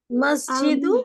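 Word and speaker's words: مسجد: দেখেন অনেকে মসজিদটি উচ্চারণ করেছেন মসজিদু, সিনটা সিনের মতো উচ্চারণ করে নেই। মসজিদু মাস বাঈদুন মসজিদুন আল আল মাসজিদু সিনটা মসজিদু ক্লিয়ার করবেন।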